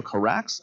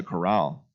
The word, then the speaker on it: Carax: Directed by a filmmaker named Leo Carax, I believe is how we pronounce it. Leo Corral.